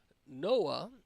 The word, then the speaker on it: NOAA: an event could occur Noah is what it's called Uh or pronounced but the National Oceanic